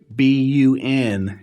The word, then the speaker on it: BUN: It's not bun, it's B-U-N, and this is a lab value. It stands for blood, urea, nitrogen, and that's how it's pronounced, B-U-N. It's crazy, but you'll actually see people in the medical field calling it bun.